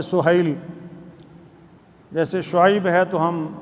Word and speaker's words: سہیل: پر سہیل بن عمر، یہ ہم سہیل بولتے ہیں عربی تلفظ میں سہیل، جیسے شعیب ہے تو